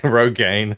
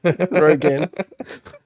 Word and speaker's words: Rogen: Rogaine. Rogen.